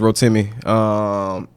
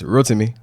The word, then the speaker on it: Rotimi: In America, it's Rotimi. In Houston, in America, it's Rotimi. In Nigeria, it's Rotimi.